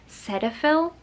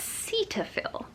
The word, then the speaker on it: Cetaphil: I use, and I've always pronounced it Cetaphil, but apparently it's Cetaphil, and I don't like that.